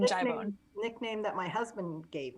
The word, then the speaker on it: jibone: Some people say Jib1. I'm like, no, that's not right. Jib1. Honestly, a little of my Italian came out when I first saw it, and I was like, jibone.